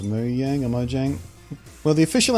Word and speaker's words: Mojang: multiple times actually but if you're from the West and you feel like calling at Mojang that's fine the official native pronunciation in the land whence it came is me yang though but they accept either I don't get pissy